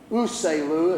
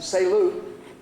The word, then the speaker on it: Uselu: It starts with a U, but the U is almost silent. Uselu is what you would see. but they pronounce it Selu.